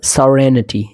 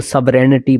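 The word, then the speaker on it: serenity: memento डलेमा dilemma memento सोरेनिटी इसको सोवनिटी पता नहीं क्या पढ़ते हैं लोग सोरेनिटी आप चेक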